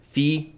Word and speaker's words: phi: So anyway, and of course it's not p, it's f, like friend, but Poughkeepsie.